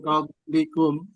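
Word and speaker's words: قَبْلِكُمْ: Jadi qab, qablikum, gitu. Bacanya gitu. Qablikum. Coba diulang. Qablikum Ya, qab dipantulkan di kol-kolah.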